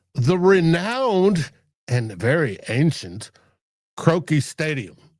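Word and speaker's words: Croke: It's the first ever game in Dublin, Ireland at the renowned and very ancient Croaki Stadium. I think it's pronounced Croaki. It's C R O K E, which was built originally in like 1886.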